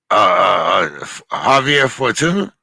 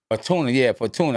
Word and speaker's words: Javier Fortuna: Javier Fortuna. Fortuna. I got it. Fortuna.